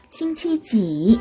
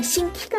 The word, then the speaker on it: 星期: 싱치지 이렇게 물어봐요. 싱치지 이건 또 무슨 뜻이냐? 자, 싱치라는 거는요. 단어를 볼까요? 자, 여기 싱치라는 단어가 있는데요. 싱치, 싱치라고 발음을 하죠. 싱키가 아니라 싱치입니다. 이거 치로 발음돼요.